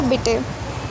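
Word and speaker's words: Bitte: Thank you को दान के और प्लीज़ को बिटे। ठीक है? अब देखो इसने हमको प्रोनाउंसिएशन के बारे में बताया है कि हेलो को हम इनके हेलो बोलेंगे।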